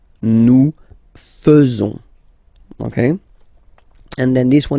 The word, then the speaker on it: faisons: So it's quite strange because French people tend to pronounce faisons. Okay? So like here, this AE is not pronounced like normally we should pronounce it like E, but then like E. Okay? Nous faisons. Nous faisons.